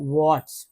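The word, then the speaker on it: would: है तो mind mind वड इसमें एल साइलेंट है ठीक है य एल जो है ये वाला एल जो है साइलेंट है तो इसको समझना होगा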